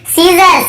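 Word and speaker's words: scissors: यहाँ पर भी देखिए मसल्स, मसल्स मसल्स, यहाँ पे मस्कल्स नहीं पढ़ रहे, यहाँ पर भी सी साइलेंट है। फिर देखिए सीजर्स, सीजर्स यानी कैंची को सीजर्स कहते हैं, यहाँ पर भी एस साइलेंट है।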